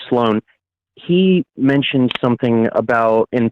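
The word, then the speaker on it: Slo4n: his name is sloan it's spelled s-l-o the letter four or the number four but it's meant to be an a and then n so it's sloan he mentioned something about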